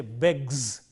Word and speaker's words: begs: When we say asks, it is s sound. He asks, because k is a voiceless sound, the s also is voiceless. But if the root ends in a voiced sound like this, g, beg, the third person singular form also is voice, and therefore we say begs.